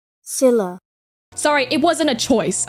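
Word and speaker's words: Scylla: in the mythos of Skyla and Karibdis. If I mispronounced that, I am sorry. She did in fact pronounce that wrong. Silla.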